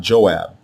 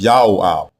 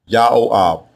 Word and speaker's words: Joab: the prefix diminutive form, but the way you pronounce it is not Joab. It is Yahoab, Yahoab.